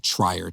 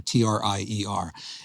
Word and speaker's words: Trier: Trier is spelled like Trier, Trier.